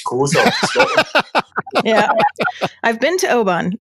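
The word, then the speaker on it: Oban: great yeah see and that's the classic american pronunciation there indeed the only thing is there's loads of scottish people say the americans can't pronounce but actually i think the americans are saying it right and it's just scottish accent says open david let's bring you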